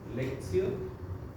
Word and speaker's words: lectio: Entonces, al primer peldaño le llaman lectio, se escribe lectio, pero en latín la T se lee como C, lectio, entonces es lectura.